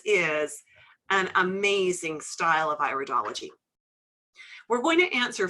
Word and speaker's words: iridology: The first thing is it's iridology, not iridology. Got it? It's one of those pronunciation things, right? It's the iris of the eye, so it's iridology. If it was iridology, we'd be studying ears.